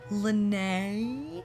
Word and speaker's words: Lynnae: to pronounce it and you said it rhymes with ballet so ballet like Lynnae everyone know how troubling